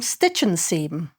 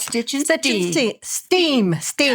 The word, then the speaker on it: Stitch & Steam: We just didn't want one big brown blob there, so we decided we'd get some stitch and seam. Okay. Did I say it right? Yep. Stitch and Steam.